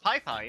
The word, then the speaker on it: Piss Piss: Anyway, the sound is in Nicaragua, and Piss Piss is pronounced Pai Pai.